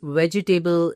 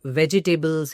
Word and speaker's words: vegetable: hear people saying this vegetable is so delicious, or the prices of vegetables have shot up. Vegetable, incorrect usage. Vegetable, spot on.